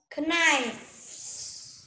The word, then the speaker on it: knife: Knife. Yes, knife. Nhưng mà âm ca là âm câm nhá, thế nên mình sẽ đọc là knife.